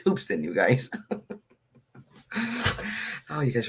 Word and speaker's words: Hoopeston: don't think I am as Hoopeston it's Hoops in you guys oh you